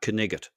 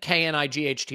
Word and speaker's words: Knight: I believe his name is pronounced Knigget. Am I right? No, I think K-N-I-G-H-T is still pronounced okay. Knight.